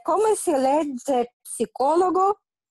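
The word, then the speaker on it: psicólogo: Ok, e come si legge psicologo? Psicologo, senza la P, psicologo.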